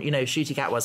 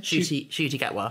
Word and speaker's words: Ncuti Gatwa: Because we're now on, Ncuti Gatwa's going to be the 15th, which is obviously more than it should be.